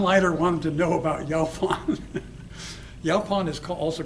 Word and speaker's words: Yaupon: Like Yaupon Yaupon, is. yeah. Yeah, Yeah, how do you pronounce it?